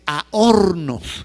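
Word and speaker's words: ἄορνος: En griego la palabra averno se dice ahornos, así aos.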